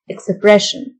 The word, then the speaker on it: expression: express express تعبير expression ال S-S-I-O-N تنطق شن expression معبر expressive expressive يلهم